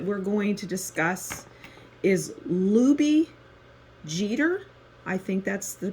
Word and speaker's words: Lubie Geter: And the next child that we're going to discuss is Lubie Jeter. I think that's the pronunciation. It's Geter.